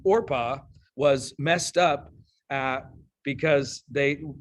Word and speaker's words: Orpah: to be her name, and they started calling this woman Oprah, which is just a misspelling of Orpah. Okay. Her family, unfamiliar with the name, pronounced it and spelled it Oprah from her infancy, though it remains Orpah on her birth certificate.